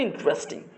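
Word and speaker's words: interesting: ট্রা এখানে বলি টারেস আমরা বলি ইন্টারেস্টিং কিন্তু এটা হচ্ছে ইন্ট্রাস্টিং খুব অদ্ভুত তাই না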